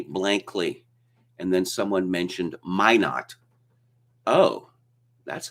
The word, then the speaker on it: Minot: obviously a french name so it would be pronounced mino and they all looked at me blankly and then someone mentioned minot oh that's how it's pronounced okay of course